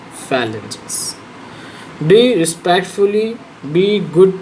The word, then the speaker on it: phalanges: फेलेंजियस है ये, फाइलेंजियस, phalanges, not phalanges, phalanges.